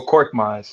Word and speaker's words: Korkmaz: I don't even know how to pronounce his name. Furkan Korkmaz. Oh, Korkmaz.